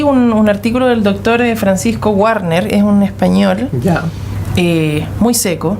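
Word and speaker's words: Guarner: Él tiene una página web, yo le invito a la gente a buscar al doctor Francisco Warner, se escribe con G-U-A-R-N-E-R, Warner, y que busquen microbioma humano, microbiota también que le llaman, ¿no?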